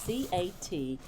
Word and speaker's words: Catkin: It's C-A-T-K-I-N. Catkin is the way you pronounce it.